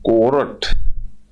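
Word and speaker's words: cohort: Indians are the largest कोरट इसको एच को साइलेंट रहता है इसमें इसको कोर्ट बोलते हैं कोर्ट का मतलब संघ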